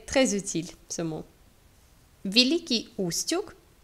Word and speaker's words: Устюг: Кстати, à propos, кстати, да, soit dit en passant, правильное произнесение названия Устюг с ударением на первый слог, c'est donc la prononciation correcte du nom de cette ville, c'est Устюг. On met l'accent sur la première syllabe.